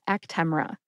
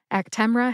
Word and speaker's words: Actemra: name today is ACTA actra has three syllables act like the word pack as in I need to pack for vacation T like Temple University and R like rubber put all three syllables together and you get ACTA the medication guide for actra divides up the syllables very nicely three syllables there but they do not indicate which syllable to emphasize I tend to emphasize T but you don't need